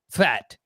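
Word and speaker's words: Pfaadt: this brandon brandon and his last name is spelled p-f-a-a-d-t fat that's what i'm gonna go with i think i said it right starting pitcher with the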